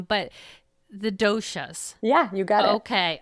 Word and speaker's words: doshas: So I'm going to throw out the one word that I do know and you can correct me if I'm pronouncing it wrong, but the doshas.